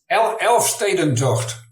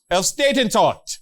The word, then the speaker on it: Elfstedentocht: Elfstedentocht. Elfstedentocht. The Elfstedentocht starts in Leeuwarden. That's the capital of Friesland. There's 11 cities tour. That's what that means. That is what it means, yeah. Elfstedentocht.